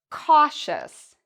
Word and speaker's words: cautious: Cautious. Cautious. Do you hear eus, or do you hear shus? Cautious. The answer is, again, the second. We pronounce the ious like shus.